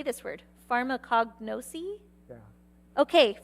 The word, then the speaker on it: pharmacognosy: actually don't know how to say this word, pharmacognosy? Yeah. Okay, pharmacognosy and biomolecular science.